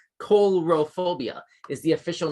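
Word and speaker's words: coulrophobia: i didn't know this coral phobia c-o-u-l as in like phil coulson from marvel it's spelled that same way with that same prefix c-o-u-l color phobia is the official name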